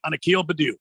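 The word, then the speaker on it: Akil Baddoo: the ball hit him anyway but yeah yep Akil Badoo he uh he's a kill but oh yeah that's how you pronounce it two balls and a strike on a keel Badu well yeah maybe used to be two balls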